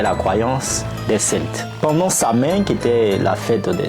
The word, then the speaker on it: Samhain: L'origine de Halloween remonte à une fête celtique appelée Samhain, prononcée Samhain.